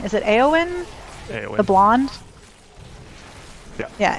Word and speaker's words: Éowyn: film is when, I'm going to say her name wrong. Is it Éowyn? Eowyn. The blonde? Yeah. Yeah, Éowyn.